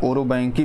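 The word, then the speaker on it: Orobanche: ठीक है, ओरोबंच, या इसको आप कह सकते हैं ओरोबैंकी भी इसको बोला जाता है। जो इसकी स्पेलिंग है वो होती है OROBANCHAE। ठीक है, ओरोबंकाई इसको बोलते हैं, ओरोबैंकी बोलते हैं।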